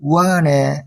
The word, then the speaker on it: 우한: 그러니까 읽으면 우리식으로 읽으면 무한인데 중국식 발음은 후안, 우한 이렇게 되나 봐요.